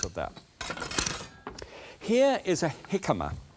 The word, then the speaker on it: jicama: Here is a jicama. It looks as if it should be called jicama, but it's not. It's pronounced, it's with a J.